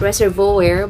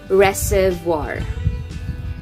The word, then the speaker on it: reservoir: to finish the job it's not reservoir but it is reservoir reservoir yes that is correct reservoir correct now for